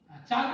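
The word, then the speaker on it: chalk: हाँ, और हाँ चॉक वाटर। ठीक है, इसमें हाँ चाक नहीं बोलना है, चॉक बोलना है, एल साइलेंट होता है।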